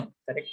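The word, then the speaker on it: Chara: Branch filamentous का example है बच्चों कारा, इसका प्रोनाउंसिएशन कारा है।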